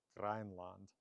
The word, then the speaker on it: Grænland: So in modern Icelandic, the name spelled that way remains its name, and that is Grænland in modern Icelandic.